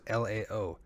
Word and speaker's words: Laos: Theirs was LAO. So you're technically apparently not supposed to pronounce the S.